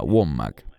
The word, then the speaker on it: Wommack: Hay tantos de esos falsos maestros, llámese Kenneth Copeland o Andrew Wommack, creo que se pronuncia Wommack, quienes han publicado videos